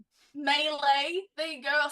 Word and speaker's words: melee: like what was that they're attacking what now Malay M that is so it is so I'm not hit on my players I'm hitting on my B all right melee there you go I'll say it like you